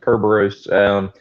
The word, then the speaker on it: Kerberos: Well, Kerberos is based off of Cerberus, so it's the way that Cerberus used to be pronounced, Kerberos.